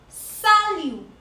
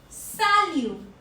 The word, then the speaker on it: salut: Our fourth greeting will be salut. Salut. Salut. T is silent here. We are not pronouncing T.